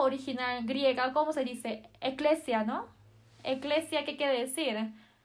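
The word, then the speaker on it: ἐκκλησία: Eclesia, ¿no?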